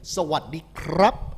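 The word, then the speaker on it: สวัสดีครับ: Sawadee krap is the right way to say it. If you're a girl, you say Sawadee ka.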